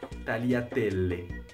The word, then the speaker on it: tagliatelle: G-L-I se prononce comme Y dans crayon. Tagliatelle. Le S peut se prononcer S en début d'un mot ou Z à l'intérieur d'un mot.